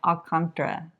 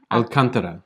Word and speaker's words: Alcântara: Okay, so today's video we are covering the neighborhood of Alantra. I think that's how you say it. Alcantara.